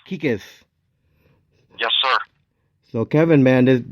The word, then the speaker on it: Kekes: Kekes. Kekes.